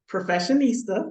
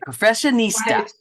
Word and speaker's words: Professionista: And alongside of that, Professionista, that is how you say it. Okay, Professionista.